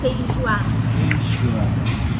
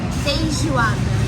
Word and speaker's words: feijoada: ¿Cómo se pronuncia? Feijoada. ¿Cómo? Feijoada.